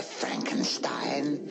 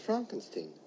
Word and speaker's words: Frankenstein: so Al alive lips Dr Frankenstein Frankenstein you're putting me on no it's pronounced Frankenstein you must be eigor